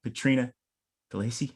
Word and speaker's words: Petrina Delacey: Today we have Petrina Delacey.